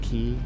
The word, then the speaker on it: quay: And it's spelled quay, but it's pronounced key.